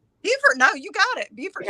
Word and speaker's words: Beaufort: Beaufort, no, you got it.